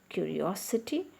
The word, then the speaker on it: curiosity: Curiosity. When the word is ending with ity, the stress is on the third syllable from the end.